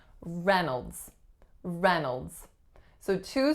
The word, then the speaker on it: Reynolds: is a schwa nodes the trick with this one however is that it looks like the first syllable is Ray but we do not hear Reynolds we do hear Reynolds Reynolds so that's that you